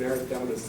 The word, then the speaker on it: erythematous: It's an erythematous throat. So this is your kindergarten color. So yellow is xantho, chloro is green, cyan is red, or like cyanotic, they're blue-lipped. Erythematous, 5 syllables.